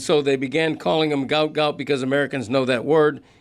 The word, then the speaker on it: Gout Gout: His first name and his last name are Gout Gout. Right. We are pronouncing it uh correctly.